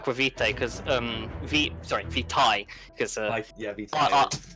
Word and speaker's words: vitae: Aquavitae because Vitae because yeah, Vitae. AE is pronounced as I in Latin and E is pronounced as E.